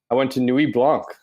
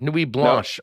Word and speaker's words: Nuit Blanche: Then Saturday, I went to Nuit Blanc. Am I pronouncing that right? You aren't. Nuit Blanche, no. I believe. Blanche? Is it Blanche? Is the English version?